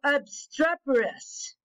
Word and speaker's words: obstreperous: make sure I get it right we go obstreperous there you go that's how you learn out